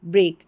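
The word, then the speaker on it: brake: ए के ई बी आर ए के ई ब्रेक यानी जो जो ब्रेक दिया जाता है कोई भी गाड़ी वगैरह चलाते हैं तब और एक तोड़ना ना होता है।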